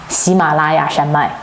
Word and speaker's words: 喜马拉雅: You know, Himalayas, in Chinese is pretty much the same pronunciation. 喜马拉雅山脉, 喜马拉雅, Himalayas.